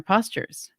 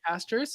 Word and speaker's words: Postures: had that part right A lot of people say pastors no we're going for posture here nice yes I